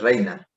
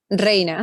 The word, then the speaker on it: Reyna: Y Ajá, el otro es Reina. Reina, ajá, Reina es el apellido. Sí. Aunque tiene la Y Ujú.